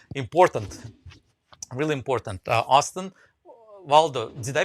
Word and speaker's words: Waldo: really important uh austin waldo did i pronounce that right yeah yeah you got it like where's waldo well done okay and